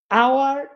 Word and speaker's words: hour: আওয়ার এন এটা হ উচ্চারণ হয়েছে, মানে এইচ এর উচ্চারণটাই হয়েছে, তাই এ।